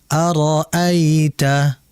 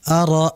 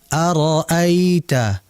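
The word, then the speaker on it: أَرَأَيْتَ: rileks Ya santai sehingga dibaca Arita bukan aral a jangan dihentak tapi dinaikkan dengan aliran yang yang santai yang rileks aroita aroita ingat ya makai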